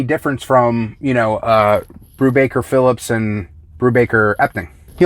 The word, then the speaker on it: Brubaker: we have the single issue of velvet by brubacher i actually said it right this time it's